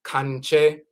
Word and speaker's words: Kankye: Sometimes they say, "Well, we practice Kankye." Or the conjure man, conjure woman, and they'll call the entire tradition the conjure tradition. So, conjure, which we pronounce Kankye, spans across all expressions